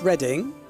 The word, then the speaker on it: Reading: It's pronounced Reading.